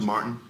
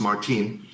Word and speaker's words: Martine: we said goodbye to Martin uh Mark actually it's pronounced Martine my bad Gonzalez who who has